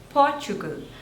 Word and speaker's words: Portugal: po Lind Poland Poland Poland next is Portugal Portugal so there are three slavors and the stress